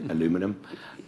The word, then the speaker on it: aluminum: They're soybeans, they're toys, furniture, as Rufus sort of mentioned, they're steel, aluminium, as I pronounce it. I believe you say aluminum.